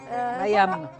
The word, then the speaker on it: Mayam: ما باج فيسبوك مايا، ça s'écrit comme ça se prononce مايا. ميام MAYAM.